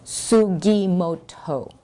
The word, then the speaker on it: Sugimoto: Ernestine, it's Sugimoto. She'd always mispronounce it, and I finally sat her down